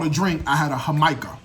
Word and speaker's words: jamaica: first of all to drink i had a hamaika right spell jamaica but they pronounced it hamika it's hibiscus agua fresca so like hibiscus tea